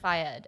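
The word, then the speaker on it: Fayed: named muhammad ah um failed or fired fired okay we looked up that pronunciation he's an egyptian it's an egyptian yeah so yeah they're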